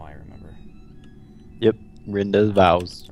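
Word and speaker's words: rendezvous: how I remember yep Renda vows Rend vows it's the French word ever yeah see I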